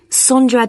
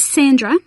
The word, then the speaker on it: Sondra: your name was again sondra de costa is that sandra no it's spelt with an o so that's s-o-n-d-r-a and